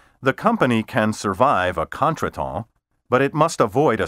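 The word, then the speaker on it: contretemps: often used in conversation its pronunciation has never been fully anglicized in other words made to conform to english ways current dictionaries generally prefer the half anglicized contraton the plural is spelled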